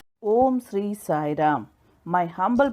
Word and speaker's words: Om: At the initial stage of creation, there was only the primordial sound Om, the combination of syllables A, that is A, U, and M. Om.